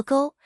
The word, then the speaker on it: 句: 在姓氏中，据读作勾，如古国